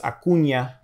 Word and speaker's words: Acuña: And then we'll change the name to Acuña, and it has, for Spanish, we need the la ñ, so it's Acuña. That's how you pronounce it.